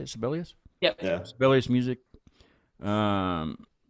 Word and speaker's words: Sibelius: Sibelius?